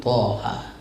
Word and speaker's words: Thaha: ini tuan-tuan sekalian Bismillahirrahmanirrahim Thaha begitulah cara bacanya jadi Thaha ini dia